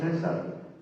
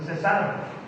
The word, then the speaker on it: cesar: Biblia dice orar sin César. César no entra en la oración. Eso no dice la Biblia. Hay un acento en la palabra cesar, que quiere decir sin detenerse, continuamente, orar sin cesar.